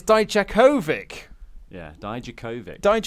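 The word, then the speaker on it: Dijakovic: for so turns out we've been saying his name wrong die Jack ovitch yeah it's Deitch Kovic yeah died you Kovach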